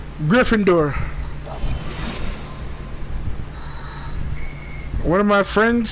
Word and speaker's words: Gryffindor: yeah I'm Gryffindor I'm Gryffindor thank you that was nothing I'm